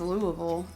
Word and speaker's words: Louisville: sure he probably says Louisville yeah I'll be getting it I'll be getting a message yeah Mike was correct it's Louisville yeah Louis film Louisville okay I'll